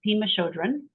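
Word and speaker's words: Pema Chödrön: You stumbled upon a quote by Pema Chodron. Is that how you say her name? Yes, it's Pima Chodron.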